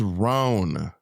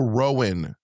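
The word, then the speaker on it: Roan: Her name is Ran. Her name is not Chapel Rowan. Chapel Rowan. Ran like prone or a bone. You don't say a Bowen.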